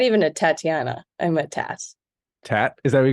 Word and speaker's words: Tat: I'm a Tat. Tat? Is that what you go by, Tat? Yeah, Americans say Tot, which is strange to me, but I'll take it. But that's T-O-T. You're T-A-T. That's a Tat.